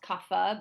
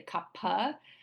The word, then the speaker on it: kapha: Sometimes it's pronounced kapha, but it's actually kapha.